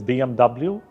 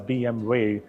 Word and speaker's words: BMW: English speaker it is BMW uh now W in German language is pronounced as way so when a German talks about it hence hence it comes out as BM way similar to like it